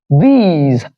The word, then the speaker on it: these: While this one is these, there's a long E in the middle, and the end part, you feel the vibration of the vocal cords, which tells you that the end part is being realized as Z.